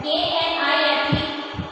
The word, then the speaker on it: knife: and all, I said K-N-I-F-E here, K is silent, so we pronounce it as knife and fork.